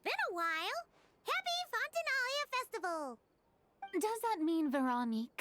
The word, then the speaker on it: Fontinalia: Happy Fontinalia Festival, you two. Fontinalia. Okay, that's how you say it.